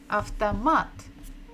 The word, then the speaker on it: автомат: And it begins with буква А. А. В. Т. О. After. It means auto. If you just say авто like this, it will be a car or something the beginning of other word. After, m. A. T. Автомат.